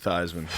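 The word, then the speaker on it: Theismann: it's funny that wasn't you didn't pronounce his name like Theisman they changed it at no a so he could win the Heisman yeah he was thean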